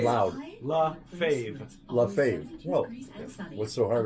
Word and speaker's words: LaFave: I'll do it phonetically in my head. Say your name loud. La Fave.